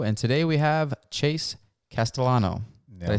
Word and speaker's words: Castellano: We are back in studio, and today we have Chase Castellano.